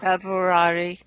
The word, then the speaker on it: Pavarotti: Pavarotti.